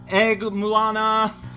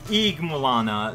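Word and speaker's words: Ygg-Mulana: Well, okay, so the actual pronunciation would be Eeg, like Eeg-Mulana, the new place where we're visiting. Basically like Yggdrasil. Like, it is absolutely meant to be sort of like the idea that it's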